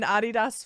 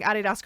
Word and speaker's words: Adidas: comfortable so comfortable I love I'm I'm an Adidas fan all right the I I don't know